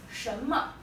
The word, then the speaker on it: 什么: Okay, next one is 什么. 什么 means what. 神 is second tone. 么 is toneless or neutral tone. Don't pronounce this like me. It's not me. It's m, because this final we pronounce 什么 means what.